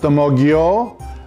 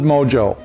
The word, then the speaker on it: ammogghio: find that they use a mode you I've heard it pronounced a mode yo I've heard it pronounced emoji oh I've when we were kids we just called it mojo so the first thing